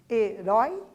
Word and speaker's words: herói: Então, pessoal, como nós já havíamos, né, inclusive adiantado ali a resposta, herói, urói é a sílaba mais forte, que a gente chama de sílaba tônica, né, porque o som sai mais intenso.